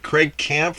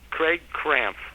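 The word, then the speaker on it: Craig Krampf: Craig Camp or something like that. It's pronounced Craig Cramp.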